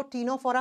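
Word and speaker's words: Ctenophora: निकला हुआ है जिसको टीनो फोरा फाइलम कहते हैं तीन नंबर प आता है स्टूडेंट्स टीनो फोरा लिखा जाएगा सी से प्रोनाउंस किया जाता है टी से नो फोरा सेम नाम हिंदी में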